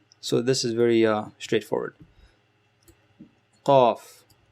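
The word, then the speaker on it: ق: Qaf, qaf. Imagine this is your tongue again. The back of your tongue touches raises up and touches whatever's above it.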